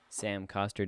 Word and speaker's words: Sam Coster: Today on the show, we have Sam Coster. Did I pronounce that right?